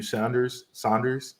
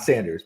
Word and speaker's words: Saunders: And shout out to Matthew Saunders, not Sanders, but Saunders.